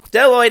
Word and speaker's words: Bdelloid: Bdelloid, and yes, there's a silent B there, I'll get to